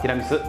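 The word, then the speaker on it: tiramisù: よね tiramisu ティラミス正式な発音はティラミス東北見るあきら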